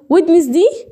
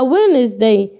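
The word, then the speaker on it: Wednesday: اقول ويدنسدي. ويدنس؟ لا ما بنطقهاش ويدنس. ليه؟ بقولها وينزداي.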